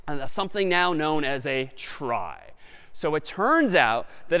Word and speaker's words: trie: a fancier tree and it's short for retrieval but pronounced try for weird historical reasons but a try is